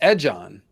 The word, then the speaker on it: Aegon: on Targaryen because Aegon if you take the G and pronounce it with a jaw it's edge on and here we have